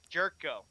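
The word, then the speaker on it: Gyorko: G jco right right well it's pronounced Jero oh yes that's the one it was and I had trouble trying to yeah I had trouble all the time trying to figure that out it's pronounced jetco jerco jerko yep yeah jerko that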